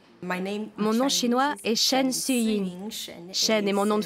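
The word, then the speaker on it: Siyun: Mon nom chinois est. Shen est mon nom de famille et mon prénom c'est Suin.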